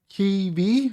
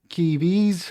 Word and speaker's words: Kyiv: Key, Kyiv, I think is how you pronounce it.